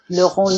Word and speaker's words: Le Rendu: I'm sure I pronounced it incorrectly. Sophia Le Rendu, but you did There quite you go, good. Rendu. Le Rendu.